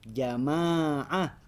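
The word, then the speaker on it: جماعة: setelah Jim dibacanya jamiah Kalau alifnya setelah mim jamaah jamaah nah itu yang itu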